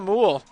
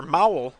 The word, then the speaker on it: Mowell: give that one to Josiah Moole on his big interception, or Mowell, excuse me, I keep mispronouncing his name.